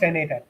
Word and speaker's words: n8n: line of code um quickly looking at the pronunciation for n8n okay it's pronounced nathan okay good uh i